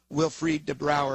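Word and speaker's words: Wilfried De Brouwer: Uh, and you devote a lot of time to this particular account uh, by Major General Wilfried Debrower. And if I've mispronounced it uh, please feel free to correct me.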